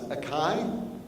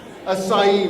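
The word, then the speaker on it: açaí: this the one thing I didn't learn to pronounce aai help asai my apologies for that I stand corrected Tony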